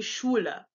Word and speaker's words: Schule: The SCH sound is pronounced actually like sh, like in shit. Normally, when we see the SCH, we pronounce it like SK, like school or schedule. But when they have an SCH, it's pronounced like sh. So this would be Schule.